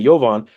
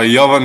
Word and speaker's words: Jovan: really matter and I know how to say yovon tell people the correct pronunciation of your your name primarily your last name uh Yovan how how bad do people butcher